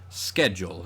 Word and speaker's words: schedule: speaking a lot of greek loanwords that begin with uh sch like the word school um are pronounced sk schedule in this case whereas it's words like schmaltz um that came from german that get that that kind of sh sound um so really